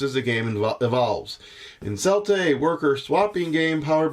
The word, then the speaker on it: Celtae: Today on Merry Meeples we are looking at a game called Celtae. That is how I have looked up and that is how it's been pronounced.